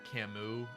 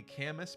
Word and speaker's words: Camus: And it made more sense for it to be Camus because then we got Sirius. Like, you wouldn't pronounce Sirius Siriu if it's also Camus. It just doesn't.